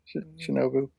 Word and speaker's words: Shinobu: Well, how do you pronounce his name? Shinobu is Shinobu.